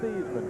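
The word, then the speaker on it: Theismann: old high school teammate he called himself joe seesman back then didn't they as joe thiesman went to notre dame had to rhyme with heisman so they changed it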